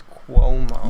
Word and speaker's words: Cuomo: me how it's pronounced I found out I've been saying it wrong it's Kuo you're a resident you